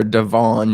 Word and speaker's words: DeVaughn: Is it DeVaughn Taylor? We hitting the Vaughn hardest. Yes, sir. DeVaughn.